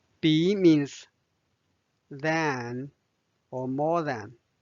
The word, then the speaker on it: 比: last word b b b means then or more than it can also be a verb means compare b the third tone so now let's read